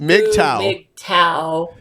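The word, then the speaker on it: MGTOW: their core they said G M GTO W pronounced Midtown tau which means they have a new name it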